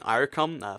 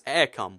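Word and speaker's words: Eircom: I did pronounce um I kept saying irom for like you know one of the Irish providers apparently it's aircom which I I'm like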